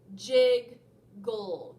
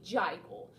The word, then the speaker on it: jiggle: First syllable is jig, j-i-g. Second syllable is gull, g-ul, jiggle. Go ahead, jiggle. Remember, if we did not double that consonant there, then the syllable would move up and it would be jiggle. So we want to keep that vowel short, and by doing that,